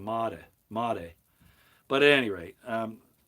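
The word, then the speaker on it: Madej: know who Dr Carrie Maday is I think she actually pronounces her last name Mata mate but at any rate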